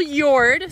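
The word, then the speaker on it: Jord: look at musk ox out here, is as Yord does. So for an idea how you spell it, it's J-O-R-D.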